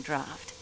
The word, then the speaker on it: draught: To ever take a sleeping draft? Always when traveling by train, miss. I still can't get over that word being pronounced as draft.